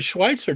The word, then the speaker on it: Schweizer: No, it's actually my last name's pronounced with a T in it, but um Okay, cool.